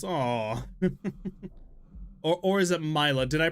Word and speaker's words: Mila: Mila, that's right, like Camila.